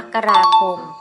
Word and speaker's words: มกราคม: ให้ ฟัง นะ คะ เดิม สํานัก งาน ราชบัณฑิตยสภา กำหนด ให้ ออก เสียง เรือน มกราคม ว่า มกราคม และ ก็ เป็น คำ ยืม จาก ภาษา บาลี สันสกฤต ซึ่ง จะ ออก เสียง พยัญชนะ ที่ ไม่ มี รูป สละ กำกับ และ ไม่ เป็น ตัว สะกด ให้ เป็น พยางค์ ที่ ประสม กับ สระ อะ ถือ เป็น การ ออก